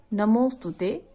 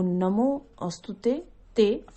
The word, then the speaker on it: नमोस्तुते: नमोस्तुते, ये पूरा शब्द है नमोस्तुते। और अगर आप नहीं संस्कृत पढ़ पाते हैं, जो कोशिश करते हैं शब्दों को ब्रेक करके पढ़ने की, वो नमो अस्तुते ते इस तरह से पढ़ सकते हैं।